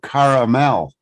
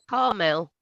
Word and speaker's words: Carmel: Norfolk and then you Mount Carmel Tennessee people will say Mount Caramel and it's like oh man isn't it huh Carmel yes correct that's how you say it Carmel yes Tennessee